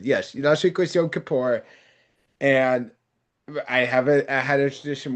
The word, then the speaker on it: Yom Kippur: Yunk Kapoor? Kapoor. Yom Kippur.